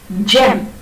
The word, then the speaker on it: gem: Gem, G-E-M, right? And how do you pronounce it? G, as J, sorry, so, as J.